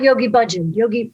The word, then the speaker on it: Yogi Bhajan: okay, here's what I know about Yogi Bhajan.